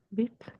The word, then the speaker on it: bit: bit. Con I corta, ¿verdad que sí? Bit. Porque es una I antes de una consonante, sonido habitual de la letra I corta.